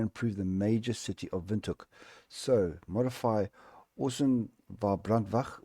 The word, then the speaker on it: Windhoek: so badly, and I'm going to take Police Windhoek. Yes, that is the correct way of pronouncing it.